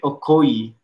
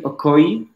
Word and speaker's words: Okoye: for the chiefs here christian okoye i believe that's how you pronounce his last name great iron heritage nice